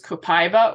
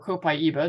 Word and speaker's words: copaiba: Next is copaiba, or copaiba, depending on how you pronounce it.